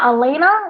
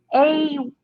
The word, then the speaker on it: Ayala: It was, assumed to be Hector Elena. I think that's might be mispronouncing that. Ayala. Ayala. Ayala.